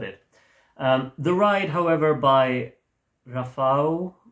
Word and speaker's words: Rafał: The Ride, however, by Rafał. I think I heard something about the L with the crossed over line, supposed to be pronounced as a W.